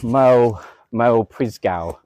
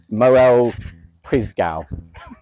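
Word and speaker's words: Moel Prysgau: Moel Prisgow. You're really doing some terrible pronunciation here. Yeah, I know. Moel Prisgow. Oh yeah, that was much better.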